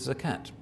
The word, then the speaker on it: zakat: liable to pay zakat Salat rhymes with zakat those verses don't work